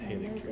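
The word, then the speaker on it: Haligtree: Oh, it's pronounced Halleck tree.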